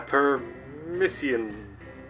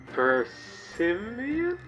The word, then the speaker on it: persimmon: I was pronouncing it like this. A permission. A persimmon?